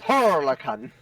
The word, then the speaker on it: Turrican: Turrican. Turrican. Turrican. Turrican. No, you gotta roll the R's. Turrican. Turrican.